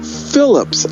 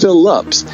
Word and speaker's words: Phillips: it because it's howard phillips lovecraft phillips is his mom's maiden name phillip uh like in cast the deadly spell it's not it's phillips and i think that